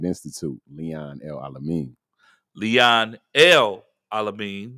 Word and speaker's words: El Alamin: Leon El Alamin, not Elamine, but El Alamin. You got to put all those syllables in there.